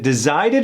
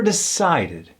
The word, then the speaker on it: decided: instincts the company decided is it descided or decided decided not only does it have an S sound that word decided but it's spelled with a c what crazy upside down